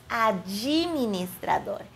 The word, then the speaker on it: administrador: Então, automaticamente suavizamos, colocando um i depois da letra D, e por isso pronunciamos administrador.